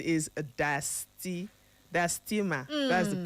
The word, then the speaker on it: diastema: It is spelled Diastema, but it's pronounced diastema.